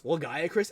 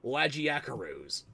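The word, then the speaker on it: Lagiacrus: Ah, instead they pronounce legacris as lagiakaroos. Legacris. Lagiakaroos.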